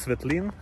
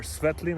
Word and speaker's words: Svetlin: light and you know my name is svetlin or swetlin i don't know how you pronounced in your language it is coming from